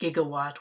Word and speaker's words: gigawatt: reaction to generate 1.21 gigatt of electricity though normally pronounced gigawatt with a hard G it can be pronounced either way so it's not technically